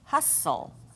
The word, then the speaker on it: hustle: silent in that case another example would be Hustle final stable syllable but we don't hear the T it's not the case